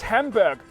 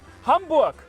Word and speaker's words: Hamburg: The biggest city is known to you maybe as Hamburg, but this is incorrect. You actually call it Hamburg. Like Hamburger.